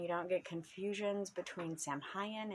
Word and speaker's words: Samhain: don't get confusions between samhain and samhain um i've also heard it salween there's just lots of